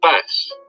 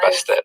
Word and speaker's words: Bastet: goddess but she was originally known as bess and it wasn't until years later that the t at the end of her name was even pronounced the earliest depictions of bastet did not show her